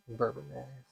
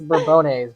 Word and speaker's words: Bourbonnais: It's over by Bourbonnais and Bourbon mayonnaise. bourbon mayonnaise. The mayonnaise? It's Bourbonnais, but it's spelled like a bourbon.